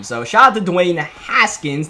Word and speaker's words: Haskins: offense, along with Dwayne Haskins. Let me make sure I pronounce that one correctly. Haskins. Alright, I've done 2 Madden videos so far with Dwayne Haskins in. And I keep on calling him Hashkins.